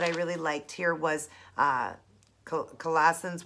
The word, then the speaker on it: Colossians: say it Colon's 1:5 it's a collisions or Colossians sorry guys Colossians 1 5 it says